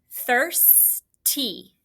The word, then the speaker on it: thirsty: TH, what's your R controlled there? IRS says the IR is saying and then hopefully you knew TY, but that Y sounds like a long E.